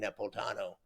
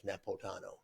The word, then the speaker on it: Napolitano: his cousin and somebody else mentioned I I pronounced it wrong Napolitano yeah it's not you don't pronounce that eye not not Napolitano is nepot Tano wow it's well then that means it's almost